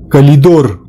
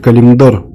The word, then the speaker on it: Калимдор: Калидор! В сумасшедшем доме, правильно говорить, Калимдор.